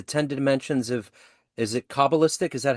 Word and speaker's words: Kabbalistic: little bit the 10 dimensions of Is it coalistic? Is that how you say it? Yes, coalistic biology.